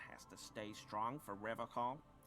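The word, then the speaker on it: Revachol: But someone has to stay strong for Revacol. Revacol. Vitsi mikä tapa lausua. He pronounces Revacol with a hard K, unlike other people.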